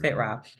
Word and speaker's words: fitra: So Muslims define the true self as the fitra. That's how it's pronounced, fitra.